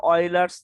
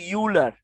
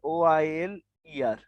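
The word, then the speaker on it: Euler: এই সূত্রের নাম হলো অয়লার্স থিওরেম, অয়লার্স ফর্মুলা বা অয়লার্স থিওরেম এইটা। অয়লার্স কিন্তু ইংলিশে উচ্চারণ কিন্তু ইউলার, ইউলার, কিন্তু ওদের লোকাল উচ্চারণ হলো অয়লার, OILER, অয়লার।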